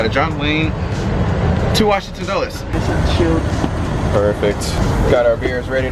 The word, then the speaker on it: Dulles: So we're just going to do a little flash forward ahead to Washington Dulles. That's how you say it, right? Washington Dulles? Where's the Dulles? I used to call it Dulles all the time, but now I call it Dulles.